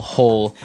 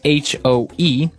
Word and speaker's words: hoe: If you want to make maybe a small hole in the ground, you would use a spade. And now our last tool has a kind of a funny spelling. It's h o e.